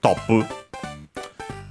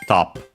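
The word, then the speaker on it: トップ: Top, of course, from English, top. Should be accented also on the same, but we'll check. Of course, it refers to the top score. Yes, accented on the top, so on the first syllable.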